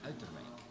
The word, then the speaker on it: Uiterwijk: How to pronounce it? Uiterwijk.